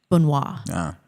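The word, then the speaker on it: Benoist: Bunois. Bunois. I I had to spell it out phonetically so I didn't screw it up.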